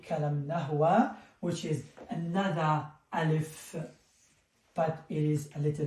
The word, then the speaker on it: ألف: So, alif, a. So, I will say the name, and then I will say the pronunciation.